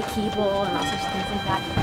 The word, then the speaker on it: Keble: Keble is actually Keeble and all sorts of things like that.